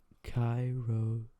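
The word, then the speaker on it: kairosclerosis: It's ancient Greek for kairos, a sublime or opportune moment. Sclerosis, hardening, pronounced chirosclerosis. Scapulars, proud of a certain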